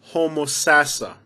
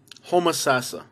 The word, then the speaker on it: Homosassa: say this one wrong the proper way of pronouncing this one is homosassa homosassa you know like okay